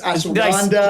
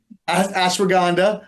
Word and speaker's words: ashwagandha: sir it's it is so many great things ashanda did I say it right ashwagandha Ash ashwagandha ashwaganda yes sir okay magnesium I